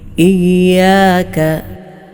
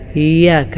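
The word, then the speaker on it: إِيَّاكَ: അറ്റത്തുനിന്ന് തന്നെ ഉച്ചരിക്കണം ഈ ഇവിടെ ചിലരൊക്കെ ഇയാം ഹംസ ശരിയായ രൂപത്തിൽ ഉച്ചരിക്കാതെ ഇയ്യാക്ക എന്ന് ഓതാറുണ്ട് ആ പാരായണം ശരിയല്ല ഇയാ ഇയാ യാ ഇന് ശബ്ദം ഉണ്ട് സൂക്ഷിക്കണം ഇയാക്ക ഇയാക്ക നഹ്ബുദു നഹ്ബുദു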